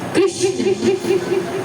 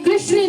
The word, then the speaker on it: कृष्ण: बंधुओं, ये जो कृष्ण नाम है, यदि इसका स्पष्ट उच्चारण किया जाए तो जीभ हल्की टेढ़ी जाती है। जैसा नाम वैसी ही लीलाएं, कृष्ण। बंधुओं, कई लोगों को मैंने बोलते सुना, वे पुकारते हैं जय श्री कृष्णा। कृष्णा नहीं, कृष्ण।